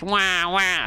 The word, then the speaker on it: WAH: They don't really call it Crybabies, they're Team Wah, but apparently you're supposed to be like wah wah, something like that.